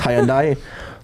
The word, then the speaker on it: Hyundai: It's actually pronounced Hyundai.